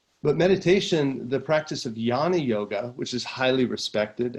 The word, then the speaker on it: Jnana: technique that is called Jnana yoga. Jnana, and it's spelled J-N, that's where you get the yan sound, J-N-A-N-A, Jnana yoga.